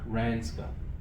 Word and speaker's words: RANZCA: How do you pronounce the Adelaide conference? ANZCA. RANZCA.